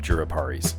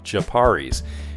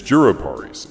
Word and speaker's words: jurupari: Anyway, I love juruparis. Always have. When I was a kid, my dad called them japaris, and I didn't learn the correct way to say it until like 3 years ago.